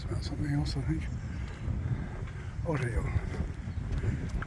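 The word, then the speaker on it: hórreo: And I looked up the word because I didn't want to pronounce it incorrectly, although I probably still will. Oreo. Oreo.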